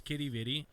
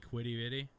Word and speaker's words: Quidi Vidi: let me finger it you said it's kitty bitty i call it quitty bitty cause it's q-u-i-d-i-v-i-d-i i don't know why